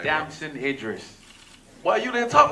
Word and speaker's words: Damson Idris: Damson Idris.